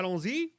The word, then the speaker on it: allons-y: How do you pronounce that? it's French. It's Francie. Yeah, allons-y.